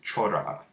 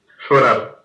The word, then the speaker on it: llorar: And one of the reasons I picked llorar is because the double L at the beginning here is pronounced 3 different ways, depending on the dialect of Spanish that you speak.